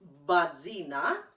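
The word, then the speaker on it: batzina: it it's if you're from thessaly it's called badzina and i'll spell that for you it's b-a-t-z-i-n-a and if you're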